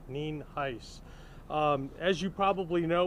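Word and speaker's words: Nienhuis: is spelled n i n huis and there's pronounced nen Heist um as you probably know we're here as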